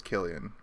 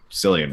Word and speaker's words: Cillian: and heard it as Killian that's cool but I've also heard people call him San before but his name is Killian because I've heard him say his own name I'm a I'm a